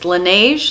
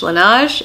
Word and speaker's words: Laneige: how to pronounce this Laneige Laneige its LAN di GE and it is their